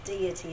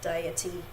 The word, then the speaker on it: deity: And I know that other people pronounce that deity as well, but I pronounce it deity from the Latin word.